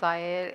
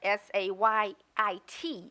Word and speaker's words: Zayed: It's pronounced Zayed and is and present. Thank you. I got the pronunciation online, and it had S-A-Y-I-T as the correct pronunciation.